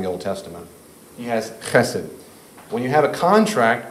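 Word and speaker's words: חֶסֶד: it's all over the Old Testament, and it's pronounced chesed.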